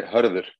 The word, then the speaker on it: Hörður: Is that the right way to say Hodor? Hodor? No, you say Hörður. Sorry. Hörður. Yeah, it has this special Icelandic sound, Hörður.